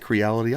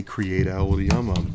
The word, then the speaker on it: Creality: Creality? I always say Creatality. There's no T in there.